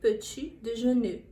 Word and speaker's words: petit déjeuner: Janeiro ela quer coisa nesse sentido é peti peti de Janeiro essa é a pronúncia mais correta do termo café da manhã